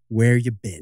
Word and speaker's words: Where Ya Bin: Bin is spelled B-I-N. Right, not B-E-N. It's spelled B-I-N, Where You Been.